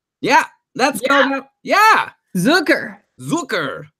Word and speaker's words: Zucker: Yeah, Zucker rhymes with Snooker.